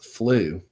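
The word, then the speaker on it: Flø: Because she's kind, but then she'll rip your heart out, I mean, as Flew draws a foul and a yellow from Brooks. Oh, right. It's the Norwegian pronunciation, Flew. It's a little odd.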